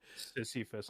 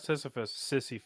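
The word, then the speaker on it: Sisyphus: Sissifus, not Sisphus.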